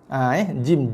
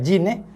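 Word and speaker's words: جيم: Jim, ja, ya, ja, ja pula. Jim, ya, mim. Ejaan dia jim jim. Bukan jin bukan J-I-N.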